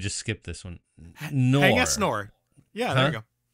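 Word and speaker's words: Haing S. Ngor: Hang S Nor. Yeah, there you go. Say Hang S Nor, yes. Hang S Nor. He just let Americans say it that way.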